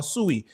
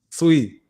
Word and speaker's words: Sui: So, I know of course like as you guys may know Dan, he's bullish on Sooie and the Sooie ecosystem.